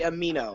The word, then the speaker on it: Amino: No, no, it's actually amino. I heard. I know. Like amino acids.